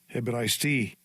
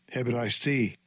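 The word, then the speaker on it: Ἑβραϊστί: This is the pronunciation. Strong's G 1447. Hebraisti. Hebraisti.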